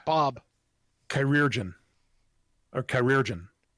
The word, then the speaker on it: chirurgeon: You say it's pronounced Bartholomew. No. No, it's Bob. Chirurgeon. Or chirurgeon.